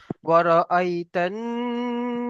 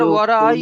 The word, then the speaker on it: ورأيت: তাহলে ওয়ারাআইতান নাসা ورأيت ইয়াদখুলুনা ফি يدخلون দীনিল্লাহ ফি দীনিল্লাহি আফওয়াজা।